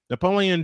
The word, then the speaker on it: Napoleon: Napoleon Dynamite is with. I kept saying Napoleon's name wrong for some reason. I thought it was a long O instead of a short O.